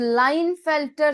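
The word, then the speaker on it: Klinefelter: Next is लाइन फेल्टर syndrome. लाइन फेल्टर case silent हो जाता है।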